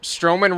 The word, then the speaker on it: Strowman: I was like, Strowman rhymes with Roman.